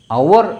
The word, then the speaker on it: hour: അവർ എന്നാണ്. അവർ. ഇതിൻ്റെ ഉച്ചാരണം എന്താ? ഇതിൻ്റെ ഉച്ചാരണം അവർ. ഇത് സൈലൻ്റാണ്.